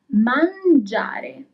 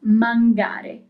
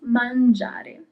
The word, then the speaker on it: mangiare: Mangiare. And that letter I is very important. If you hadn't that letter, then you will read the verb as mangare. But you have the I, so it becomes mangiare.